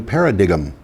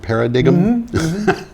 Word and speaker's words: paradigm: Xin an entirely new paradigm in other word para dig'em supposed to be bigoted yeah right supposed to be pronounced paradigm for all of you